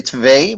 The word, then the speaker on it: twee: We say twee, but it's pretty good. Not bad. Not a bad pronunciation at all.